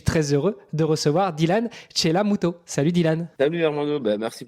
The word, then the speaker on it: Chellamootoo: et le nom, ça va, j'ai bien prononcé, Chelamuto. Chelamuto, ouais, avec 4 O.